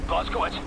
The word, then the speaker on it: Blazkowicz: Blazkowicz, hate to pile it on, mate, but we're in the weeds over here.